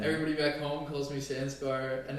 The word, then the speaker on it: Sanskar: my entire life i've introduced my name as sanskar that's how you introduce yourself spelled s-a-n-s-k-a-r and every white person will pronounce that as sanskar right i come here